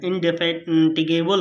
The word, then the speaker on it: indefatigable: अब देखिए इन इसकी थोड़ा सा प्रोनाउंसिएशन भैया कर लीजिएगा। इनडेफेटिगेबल होता है।